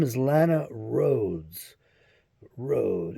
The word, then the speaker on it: Rhoades: name is Lana Rhodes Road as in rode hard put away wet r h o r h o a d e s I believe it's spelled